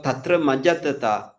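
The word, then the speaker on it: tatramajjhattatā: And then you have tatra majjatata, right? So see the chetasika tatra majjatata, right? Tatra majjatata. Dr. Kavita, pronounce this.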